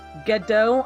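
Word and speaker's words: Godot: It's pronounced Gedo. I'm still going to call him God, though. I'm sorry, but I like pronouncing it God, so that's what it's going to be.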